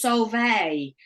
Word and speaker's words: Sólveig: said it properly, and it was Sólveig, but then she seemed to put a G on it herself.